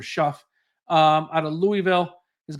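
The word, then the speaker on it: Shough: So Tyler Show, I believe it's pronounced or shuff.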